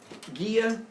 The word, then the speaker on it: Gaia: then same thing with Ghia you can have a conversation with her and it was also a place the Greek pronunciation of them is Gia and Ernest but I also